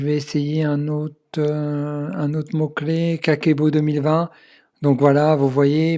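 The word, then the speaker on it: kakeibo: Alors Kakebo, ça s'écrit de deux manières, de deux façons. Donc K-A-K-E-I-B-O, mais il y a aussi, donc quand on enlève le I, donc Kakebo. Hein, vous pouvez voir ici, Kakebo en français.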